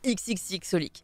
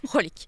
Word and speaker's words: xxxHOLiC: manga qui s'appelait Holic, parce qu'en fait les X ne se prononcent pas, hein. C'est pas Cross Holic, c'est pas XXX Holic, c'est Holic, juste Holic.